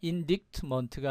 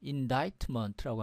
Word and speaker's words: indictment: 자, indictment가 아니고요. indictment라고 합니다. indictment.